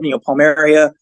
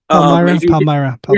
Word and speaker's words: Paideia: cases, you get the Paideia. Am I pronouncing that right? Paideia? Paideia. Yeah, Paideia. So if you're using something